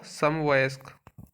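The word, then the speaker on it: समवयस्क: हैं तो इसमें सही इसका जो सही उच्चारण होगा सम वयस्क जिसका विभाजन नहीं किया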